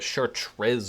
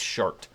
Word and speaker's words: Chartres: Everyone pronounces that Chartres or Chartres. It's Chart. Yeah, Chart in France.